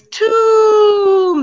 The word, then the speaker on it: tomb: to comb my hair the next one it's tomb there's that ooh sound tomb yeah he died he